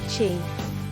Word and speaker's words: qi: The flow of energy is known as qi, pronounced qi.